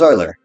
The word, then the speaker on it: Euler: again it's euler e-u-l-e-r his last name is euler how do you pronounce it uh euler could you say it